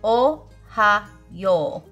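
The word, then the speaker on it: おはよう: just say Ohio and it's not spelled like the state but it's similar in how you say it Ohio but instead you say o ha yo but it's Ohio when you put it all together good morning all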